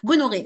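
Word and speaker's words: gonorrhoeae: Donc Nesseria gonoc gonoqué, je sais plus comment ça se prononce. Gonoré.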